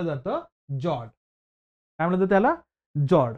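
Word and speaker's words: fjord: जॉर्ड काय म्हणतात त्याला जॉर्ड स्पेलिंग काय त्याची एफ जे ओ आर डी एफ असणार प्रोनाउन्सिएशन या ठिकाणी सायलेंट आहे म्हणून त्या ठिकाणी त्याला फ्लॉज म्हणायचं नाहीये त्याला म्हणायचं या ठिकाणी काय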